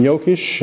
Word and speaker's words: Jokisch: and this is from yokish i'm going to pronounce it the german way this is the coolant